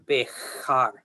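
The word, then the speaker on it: Béxar: Over time in Spanish, the X became softened into an H sound and became Bejar, okay?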